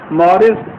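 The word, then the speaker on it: Maurice: یہ ڈاکٹر ہے, یہ فرینچ نیم ہے, شاید اس کے تلفظ ایسا صحیح نہ ہو, مارس بکائے اس کو کہتے ہیں کہ یوں پڑھنا چاہیے, اگرچہ وہ ایم اے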